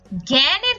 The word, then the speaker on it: জ্ঞান: হয় যেমন আমরা এখানে জ্ঞানের ক্ষেত্রে দেখি জয় এর সাথে কিন্তু একটা আকার যুক্ত আছে কিন্তু এর উচ্চারণটা আমরা বিবৃত করে উচ্চারণ করি বলি জ্ঞান একইভাবে আমরা ব্যাপারে ব